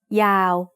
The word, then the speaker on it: ยาว: We write ยาว with ยอยักษ์ สระอา วอแหวน ยอยักษ์ is a low class consonant to start a syllable, and วอแหวน at the end makes it a live syllable, so it's also mid-tone.